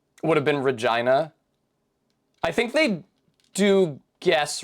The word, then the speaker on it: Regina: town in in Canada was not pronounced Regina it was pronounced Regina you know it's a